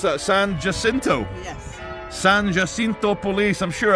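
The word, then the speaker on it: San Jacinto: San, how do I pronounce that? Sanjasinto.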